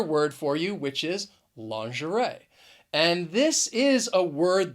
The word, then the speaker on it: lingerie: to that of french lingerie which is why again the spelling does not match up with the pronunciation the word has three syllables and the stress is on that third syllable lingerie the next word